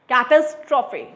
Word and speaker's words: catastrophe: और मैंने इसको ब्रेक किया इस वर्ड को, कैटास्ट्रोफे, कैट एज ट्रॉफे.